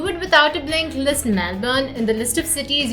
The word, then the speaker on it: Melbourne: this right melbourne melbourne well let's say the right way the aussie way melbourne did i get that right yes you got it right great okay melbourne so that's how you're